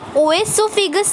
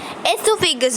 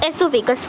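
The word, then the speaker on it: oesophagus: Then food pipe और एसोफेगस, इसे ओएसोफेगस नहीं बोलना, इसे एसोफेगस बोलना है। Okay, it's एसोफेगस, ओ is silent है।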